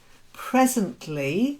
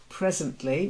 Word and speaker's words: presently: with an o sound presently not like to present presently which means in a few moments bristled another silent letter